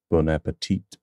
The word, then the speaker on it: Bon Appétit: T at the end bonapeti bonapeti however in French they would drop the final consonant and say Bona Bona thanks so much for